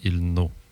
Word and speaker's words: ilnu: Tu peux sonner en O aussi, comme ilno. Ils n'ont OU. I-L-N-O-U, si je l'écris à la prononciation, là. Mais à l'écriture, on suggère I-L-N-U.